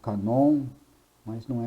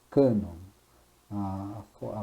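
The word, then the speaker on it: cânon: cuidado né de pronunciar essa palavra porque eu já ouvi muita gente falando canon mas não é canon cano a a pronúncia correta né cá não ou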